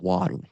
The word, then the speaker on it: water: You have a T sound in an unstressed syllable position, and for ease of articulation, we make it really fast. Or you simplify it. Da, da, da, da, da.